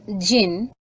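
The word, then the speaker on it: jinn: the rest of us now word meaning digin pronounced Jin and variously spelled as g e n i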